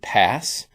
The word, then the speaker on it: PaaS: now there's also paas some people just pronounce it pass platform as a service